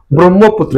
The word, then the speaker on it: ব্রহ্মপুত্র: আর ব্রহ্ম, এখানে হচ্ছে হ যক ম, কিন্তু উচ্চারণে আগে আসবে কি? ম, তারপর হচ্ছে হ।